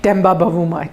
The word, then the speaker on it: Temba Bavuma: Let's start with That's how you pronounce his name? Temba Bavuma.